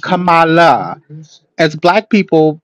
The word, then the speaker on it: Kamala: Also, her name is Kamala, not Kamala. As Black people, pronunciation of her name is critical, so let's pronounce her name correct.